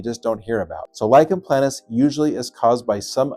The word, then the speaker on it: lichen planus: Great question about lychen planis or LP. Please do not pronounce it lichen planis or lychen plantis. It's lychen planis.